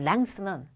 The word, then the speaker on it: length: 그리고 그런데 보기 뒤에 있는 length는 th, 혀 나오는 발음 떠.